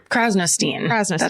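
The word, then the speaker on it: Krasnostein: name really quick oh definitely her last name is spelled k-r-a-s crosnostein that's right fresno steen australian so you get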